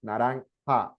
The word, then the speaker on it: naranja: If you see, my pronunciation here is ha, naranja, amarillo. You see? I told you before about, or here, rojo, right? Sounds like a, imagine J is like a H in English.